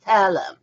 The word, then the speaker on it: thaler: In the aspect of currency, from 1534, you started to cast silver coins pronounced as thaler.